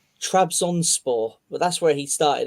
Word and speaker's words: Trabzonspor: Trabzonspor. Trabzonspor.